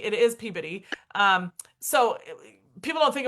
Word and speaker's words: Peabody: at Vanderbilt and like the same sometimes it's pronounced Peabody now or the Peabody Institute, but it was Peabodyy. It is Peabodyy.